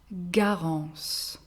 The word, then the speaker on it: Garance: Garance. Garance. Good. Mixed name is Gabrielle. Gabrielle. Feminine version has the same pronunciation, but here again we add an other